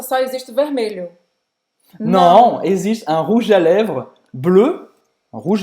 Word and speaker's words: rouge à lèvres: Então, presta atenção nessa pronúncia, que esse G-E de rouge, ele é quase pronunciado como um J e ele se junta com um A depois.